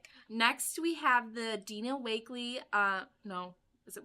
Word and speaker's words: Wakley: Next we have the Dina Wakley, no, is it Wakley? Yeah. Oh, okay. I thought I pronounced it wrong for a second.